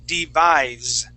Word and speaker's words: devise: is going to be devise okay that s is going to have a z sound devise try that devise